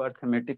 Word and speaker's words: arithmetic: Pattern बनता है, इसको अर्थमेटिक सीरीज कहेंगे। इसको क्या कहेंगे, अर्थमेटिक। ARI होता है जी, अरिथमेटिक होता है। स्पेलिंग क्या होता है जी अर्थमेटिक का? ARI, अरिथमेटिक होता है ना।